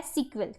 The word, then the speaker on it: SQL: आप सीक्वल भी कहते हो, ये वाला जिसकी प्रोनाउंसिएशन क्या है? सीक्वल, ठीक है।